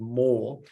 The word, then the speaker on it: Moorr: That is now called Moorr, and it's a cloud-based platform. It's spelled MOORR, and it's free for all of our customers to use.